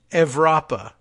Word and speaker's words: Evropa: Identity Europa, which we should all just pronounce it as Identity Evropa, because, duh. I don't know why they decided to go with the V-shaped U.